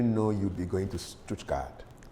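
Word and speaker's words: Stuttgart: When did you know you'd be going to Stoutgat? What's the correct pronunciation? Stoodkat.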